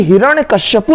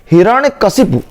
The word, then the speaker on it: हिरण्यकशिपु: तो ये हिरण्यकश्यपु नहीं होता, हिरण्यकश्यपु, हिरण्यकश्यपु का अवतार हुआ नहीं, हिरण्यकश्यपु नहीं, हिरण्यकशिपु, हिरण्यकशिपु। एक बार नहीं 2 बार बोलिए, ताकि आप बार बार आपको लगेगा कि हिरण्यकश्यपु नहीं होता कोई वर्ड, हिरण्यकशिपु होता है, हिरण्यकशिपु।